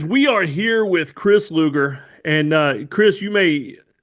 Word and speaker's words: Luger: We are here with Chris Luger. And uh Chris, you may you may know this. Uh Luger, pronounced like the old 1990s wrestler, Lex Luger.